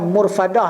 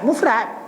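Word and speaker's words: مفرد: Hab dia mufradah dengan murfadah lain Ha kan murfadah dengan mufradah Mufrad Mufrad Mufrad satu ha gitu jadi Mufrad bukan murfad ha tu sungguh pernyataan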